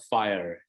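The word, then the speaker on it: 5ire: very closely there's a company called fire it's spelled 5 ire and fire is doing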